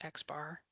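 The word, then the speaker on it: X̄: We just pronounced that X bar.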